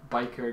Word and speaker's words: Byker: I don't know seikar sounds like I don't know like something between like it's similar to biker and hiker but it starts the